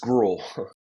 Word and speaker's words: Grewell: spell how you say how you pronounce your name guell gr gr we we're not fancy enough for that extra syllable we're just GRL this is going to